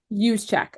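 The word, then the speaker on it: Juszczyk: check um what is it again use Che use check okay and it is spelled just so everyone knows j u s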